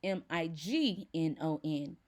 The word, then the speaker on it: Mignon: But when the French pronounce it, it becomes the soft settling strum of a violin string. In French, it is Mignon.